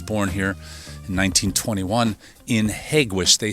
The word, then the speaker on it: Hegewisch: the town's called Hegewisch a proper way to pronounce that is Hegewisch a lot of people just say Hegewisch but I know this